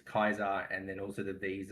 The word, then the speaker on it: Caesar: history, the anglicized English language has become that we just have hard C's and soft C's, whereas the original pronunciation is Kaiser, and then also the V's are soft as well.